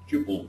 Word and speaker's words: tuple: which is called at Tuple or tle I don't know which is correct pronunciation both right so Tuple is something